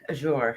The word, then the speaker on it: Azure: like ah i yeah like azure yeah okay so that's how you pronounce it yeah so the